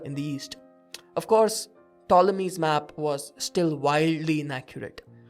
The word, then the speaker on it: Ptolemy: somewhat spherical which allowed ptolemy with a silent p the greek mathematician to